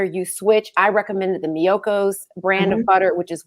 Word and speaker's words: Miyoko's: And so for February, I'm glad you told me how to pronounce that word. Miyoko's.